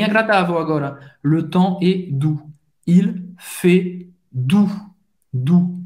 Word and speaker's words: doux: Le temps est doux. Il fait doux. Doux. Ou, lembrando, tem o som da letra U em português. O X não vai ser pronunciado. Então, agora, acho que eu vou mudar aqui meu emojizinho.